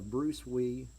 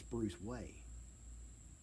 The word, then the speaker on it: Bruce Wei: she informed me it's bruce way i said no way she said yeah it's pronounced way over there she said dad wheeze